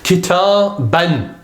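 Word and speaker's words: كتابًا: letter ba here, and then there's an alif, but that's not pronounced. That's only for the purpose of writing. So the word itself is kitaban.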